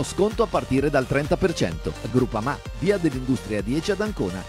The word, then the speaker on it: Groupama: Ah no, si pronuncia Groupama.